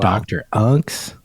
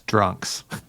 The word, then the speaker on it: Dr. Unks: Dr. Unks, fuck yeah. Who I else? always pronounce that as drunks. No, dude, But it's Dr. Unks.